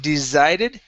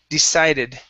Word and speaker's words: decided: let's go to uh decided instead of desided decided decided mm good and I